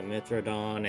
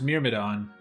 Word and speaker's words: Myrmidon: Robin should be able to take out the Mithrodon, and then Crom can start It working doesn't even say on Mithrodon, it the- says Myrmidon.